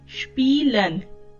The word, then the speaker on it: spielen: इसका प्रोनाउंसिएशन देखें, स्पीलन. आई ई जो है कौन सी साउंड देता है आपको? ई की साउंड देता है, स्पीलन.